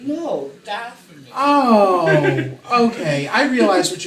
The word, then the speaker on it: Dathomir: I thought you were saying Dathomirian. No, Dathomir.